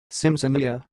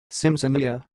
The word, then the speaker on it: Simsimyya: how pronounce this word the word you are watching it sounds like Sims Amelia Sims Amelia so I will repeat